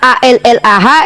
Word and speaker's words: Allah: Kata Allah itu kata hiperkorek, salah sebut dari kata ALLAH yang adalah transliterasi nama Tuhan dalam bahasa Arab yang harusnya pronunciation-nya haruslah Allah.